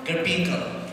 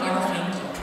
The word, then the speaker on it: Garfinkel: Mali yung pronunciation? The law office of Michael Garfinkel. Ano? Garfinkel. Iba pronunciation niya.